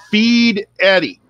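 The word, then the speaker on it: Fieri: time, and guy said, if you want to think about how to say his name, his last name, if you're to think about it, he said, Feed Eddie. So when you say it, think Yeti.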